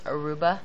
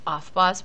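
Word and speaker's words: Aufbau: excuse me um i had someone pronounce this aruba this year true story cracks me up it's offboss principle you do not need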